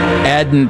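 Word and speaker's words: Aden: Adden Dirty. I I looked it up, by the way. I It's spelled, you would think, Aiden, A D E N, but according to what I found, it's pronounced Adden.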